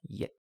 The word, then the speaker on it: 一: For pronunciation, the Middle Chinese ancestor of most modern pronunciations was yit. This becomes i in Chinese, ich and its in Japanese, and il in Korean.